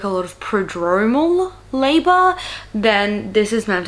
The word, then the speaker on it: prodromal: already have those like irregular promotal how do I pronounce that? I'm gonna look this up because this video is gonna be largely about that. Let's have a look. Prodromal. Okay, there we go.